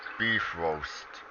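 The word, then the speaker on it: Bifröst: c rhodenar or d beef roast and yes that is the actual pronunciation it's the beef roast that is the legitimate pronunciation what here's another one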